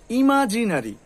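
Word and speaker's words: imaginary: আচ্ছা, তার নেক্সট হচ্ছে ইমাজিনারি, ইমাজিনারি। কি হবে? ইমাজিনারি, ইমাজিনারি, ইমাজিনারি, ইমাজিনারি। এই যে নরি, এই যে অরি, কিন্তু অরি বললে হবে না, ইমাজিনারি, ইমাজিনারি, এরকম করে ইমাজিনারি, ইমাজিনারি, ন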